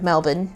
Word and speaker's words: Melbourne: Melbourne is how they say it.